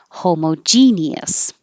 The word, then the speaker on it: homogeneous: i added because we were talking about the ous at the end sounding like is homogeneous homogeneous or apparently it's